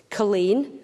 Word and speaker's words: Culzean: didn't March the spellings Colleen Colleen Castle it's spelled colzine Mingus spelled Menzies cargonian which